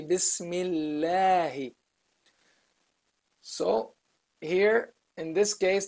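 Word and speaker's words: بسم الله: You don't say Bismi Allahu, or you don't say Bismillahu, no, or Bismillahi. You say Bismillahi.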